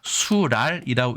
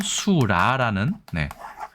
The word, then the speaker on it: 水剌: 한자어 301은여 번째 시간에는 물수 발랄 랄이 겹쳐서 수랄이라고 읽어야 될 것 같지만 실제로는 수라는네 의외의 발음을 가진 표현에 대해서 알아보았습니다 중요한 것은이